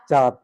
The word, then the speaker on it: চাঁদ: যাবে না চন্দ্রবিন্দু শিওর চন্দ্রবিন্দু কখন উচ্চারিত হবে চকারের পরে চকারের পরে ভুলটা ওখানেই এটা চন্দ্রবিন্দু থাকলে চার পরে চন্দ্রবিন্দু বলে ফেলতে হবে